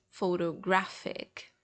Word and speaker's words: photographic: to do with photos, but they have different stress syllables. So photograph, photography, and photographic.